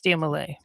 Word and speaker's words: Dia Malai: So, it's Dia Malai. Yes. Malai like Malaysia.